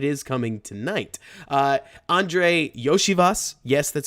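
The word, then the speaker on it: Iosivas: Uh, Andre Yoshivas, yes, that's how you pronounce his name, is a the He's like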